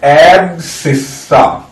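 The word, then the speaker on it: abscissa: इनका एक और फैंसी नाम होता एब्सकिस्सा। ये तो मैं स्पेलिंग के लिए बोल रहा हूं, एब्सकिस्सा। इसको पढ़ा जाता है एब्सिस्सा, एब्सिस्सा। आई थिंक ये सबसे क्लोज प्रोनाउंसिएशन है, एब्सिस्सा, ठीक है।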